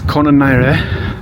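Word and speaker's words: Colonarie: It's no L. So, it's Konare.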